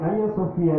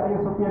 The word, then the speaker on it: Hagia Sophia: Orang Turki itu nggak bisa menyebut H, tapi menyebutnya A. Dan ini ada H-nya, berarti Hagia Sophia. Itu yang kita dengar kalau orang Turki membacanya.